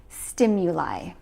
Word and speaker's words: stimuli: The plural form is stimuli. And notice that we pronounce it with the I sound at the end. Stimuli.